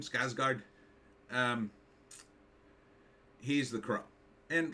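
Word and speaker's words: Skarsgård: rain so I think we're good anyhow bill skard is how you say his name skougard um he's the crow and look he's okay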